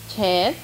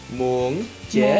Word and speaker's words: muốn chết: Muốn chết. Muốn chết. Good, that's better. Now, try to pick again. Again, again. Muốn. Muốn. Chết. Chết. Good, but do not pronounce the final sound.